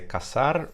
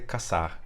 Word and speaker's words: caçar: Spanish I would say caçar or cazar, depending on whether I'm from Latin America or Spain. And then in Portuguese I say caçar, and that has the the C with the cedilla.